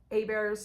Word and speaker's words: Hebert's: There's a little kind of hole in the wall meat market called Hebert's Specialty Meats. That's spelled with an A, H-E.